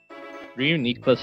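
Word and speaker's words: Reuniclus: 39 and then after that it'll evolve into Reus or ricus is some people like to call it um Reas is the um actual pronunciation but yeah um some people like to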